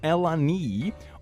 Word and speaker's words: Eleni: They are, for a girl, abstinence, which is also very ironic considering how babies are made, but anyway, Eleni, pronounced Elani, Aurora, why don't you spell it?